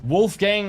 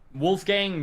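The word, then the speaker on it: Wolfgang: I I might be able to You also No German would pronounce it gang like in gangster.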